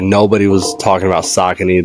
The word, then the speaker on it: Saucony: Like nobody was talking about Saucony. They were trying to correct me and say it's pronounced Saucony.